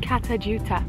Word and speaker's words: Kata Tjuta: heading over to this place which I can't pronounce the name of but Hannah can I think what was it it's called kata Tjuta katha tjuta all right I'll try remember that poly forget